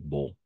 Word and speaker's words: beau: A-U, E-A-U, toujours O. Todo esto va a ser O. Por eso decimos il fait beau.